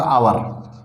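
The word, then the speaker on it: hour: है, honourable, honest और आवर, ये वर्ड्स जो हैं इनके पहले एन का प्रयोग होता है। एन का प्रयोग क्यों होता है, क्योंकि इनके अंदर एच साइलेंट है।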